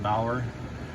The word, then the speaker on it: Bauer: This is a little bit of a, I think you pronounce that Bauer.